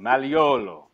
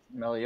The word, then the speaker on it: Magliolo: And he pronounces Magliolo, but it's, you know, it's Maliolo. Maliolo. Right? That G in Italian is like a silent G kind of thing.